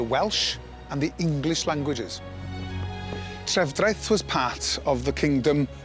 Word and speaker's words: Trefdraeth: All you have to do is listen to the way they pronounce the name of the town, because although it's Trefdraeth on the signs, they call it Tuddraeth.